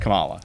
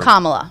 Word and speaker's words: Kamala: I'm not really going to say because I don't But want that to get name, for that version, it's pronounced Kamala, Yes. as opposed to our Kamala.